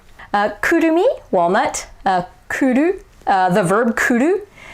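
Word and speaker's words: 来る: Kurumi, walnut, kuru, the verb kuru. Notice that it's kuru, not kuru. Or kuru. It's really hard to mispronounce Japanese, by the way. So kuru versus kuru.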